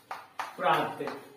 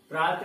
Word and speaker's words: प्रातः: जैसे देखिए शब्द है प्रात। प्रात में विसर्ग अगर हम लगाते हैं तो क्या हो जाएगा? यह हो जाएगा प्रातः। प्रातः। ठीक है, ह का उच्चारण।